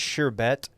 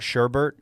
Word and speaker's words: sherbet: a little research and while it is sherbet and not sherbert i would love to